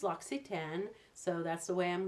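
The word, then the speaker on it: L'Occitane: it going around and people asking people on the street how do you pronounce this store's name and you get all these different pronunciations but I believe it's Lux a ten so that's the way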